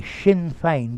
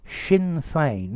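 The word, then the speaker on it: Sinn Féin: pronunciation left right okay shin fein gaelic for we ourselves very good okay had he goes for reprieve shin fein that's the pronunciation that's very good left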